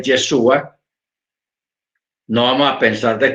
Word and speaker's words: Yeshua: Porque nosotros, el hecho de que nosotros sepamos que el nombre correcto es Yeshua, no vamos a pensar